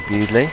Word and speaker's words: Bewdley: It's spelled B-E-W-D-L-E-Y. Bewdley. Bewdley. Is correct.